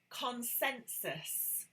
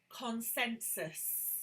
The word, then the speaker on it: consensus: Consensus. Notice how I am pronouncing the end of this word. Consensus. Consensus. This is very soft, but it is still there.